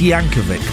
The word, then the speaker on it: Yankovic: It's Yankovic, by the way. It's a hard C.